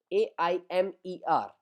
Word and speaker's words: aime: For example, in front of you the first verb aime, AIMER. So we pronounce it is aime.